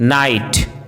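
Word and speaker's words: knight: यदि किसी वर्ड में के एन साथ में हो तो के का उच्चारण साइलेंट होता है, जैसे नी, knob, knife, no, नाइट, need, knock, knickers, knowledge.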